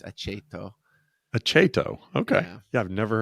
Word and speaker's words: Aceto: CH is if it's followed by a vowel, so it's aceto.